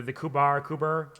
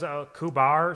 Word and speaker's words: Quvar: I mean, that's also how some people with certain accents say my name. The Kubar Kuber. Like Toki says Kubar sometimes, unless she like emphasizes the V hard.